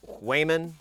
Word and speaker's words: Cwejman: it's a commercial module called uh Wayman which is I've been told this is pronounced and to dual adsr